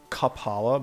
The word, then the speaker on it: Kapala: can get the kapala it's pronounced like cup kaphala but it's spelled ca paula so you're thinking yourself